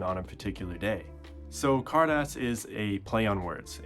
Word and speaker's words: Carddass: gachapon machines are the card ass machines and yeah so let's just address this right now it is pronounced cardas it's a play on